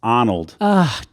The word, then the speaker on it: Arnold: Although you did mispronounce, Casey. What did I say? Arnold Arboretum. It's Arnold.